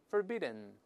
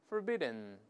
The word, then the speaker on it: forbidden: 我们大声再来读一遍 forbidden forbidden。